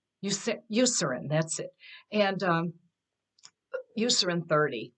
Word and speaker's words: Eucerin: Eucerin. Eucerin, that's it.